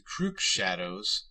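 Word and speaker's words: The Crüxshadows: The Florida goth darkwave band The Crook Shadows is also pronounced with the long U, so this is also perhaps not gratuitous.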